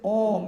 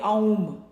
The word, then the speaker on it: om: Like om is supposed to be a, u and ma. But that's just the one we pronounce is om. We don't say aum. Right. They tell you not to say aum.